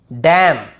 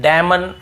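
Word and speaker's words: damn: पहले एम आता है एम एन एक साथ हो तो हमें हमें वहां क्या करना है एन को नहीं पढ़ना है जैसे ऑटम कॉलम डैम और हाइम तो यहां पे हमें ऐसे ऑटम कॉलमन डैमन ऐसे हाइमन ऐसे नहीं पढ़ना है ठीक है क्लियर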